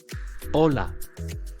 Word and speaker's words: hola: the word hello olola the first letter in the word hello is called a as you see it is silent but don't overlook it while writing or instead of hello you get a word that means wave H tips from cat Bari a is typically silent in Spanish let us see some